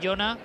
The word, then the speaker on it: Jona: Bueno, hablábamos del gol de Jona para el Cádiz, jugador que la temporada pasada le dimos en el Jaén, Jona. Esa es la pronunciación adecuada, lo que pasa es que cuando estamos en ronda vamos ahí a tope.